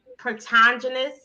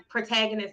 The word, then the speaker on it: protagonist: animated shorts as the protogenous and I know I'm not pronouncing it right pronounce it protagonist thank you of the